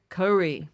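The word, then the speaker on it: kauri: And it was mostly um these cowry trees which are is that how you say it? Cowry. Kore. Yeah, Kore. Yeah, it's hard to roll my ass, but if you can, you can.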